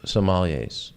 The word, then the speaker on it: sommeliers: Well, when you got to meet with a group sommeliers, did I say it right correctly?